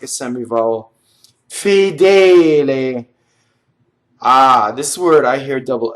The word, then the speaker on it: Fedele: Fedele. This word I hear double L a lot, right? Fedele, right? And all you have to do for double L is hold the tongue in phonation.